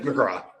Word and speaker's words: McGrath: Is Liam McGrath, so like you pronounce him McGraw? It is McGraw.